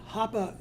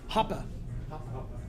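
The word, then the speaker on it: Hoppe: can we do yeah Hoppa is the way he pronounced it I call it hoppy because that's the Americanized way I think about it Hoppa I think that's right the German Way but one of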